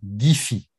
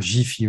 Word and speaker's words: Giphy: Il y a plusieurs solutions, mais la solution idéale, c'est d'aller sur Giphy. Alors, c'est pas Jiffy, hein, les magasins Jiffy, G-I-F-I. Ici, c'est Giphy. On pourrait dire Jiffy aussi.